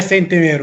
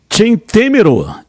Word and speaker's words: Centemero: E sobre a pronúncia do meu nome, está quase certa, é Centemero, mas aqui no Brasil é Centemero mesmo, então pode seguir. Centemero, essa é a pronúncia correta?